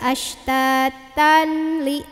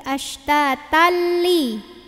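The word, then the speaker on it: أَشْتَاتًا لِّ: Jadi bacanya enggak ashtatanli tapi ashtatalli.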